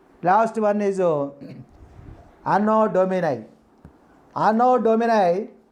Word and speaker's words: anno domini: one is unknown domini anno dominic anodominate not unknown dominic anno domini means we should not pronounce double letters in english language analytic means what is